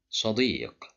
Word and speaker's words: صديق: صديق صديق صديق. Here the letter dal is controlled by kasra and followed by ya, so we have مد بالياء.